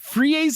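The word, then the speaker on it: frieze: Freeze. I have no idea how to pronounce this word.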